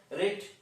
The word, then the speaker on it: read: বানানটা একই থাকে, শুধু প্রোনাউন্সটা আলাদা হয়ে যায়, রেড।